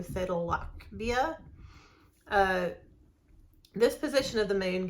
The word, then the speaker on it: Sadalachbia: It is Sadalachbia. This ACH is pronounced like German, not like the American ATCH, so Sadalachbia.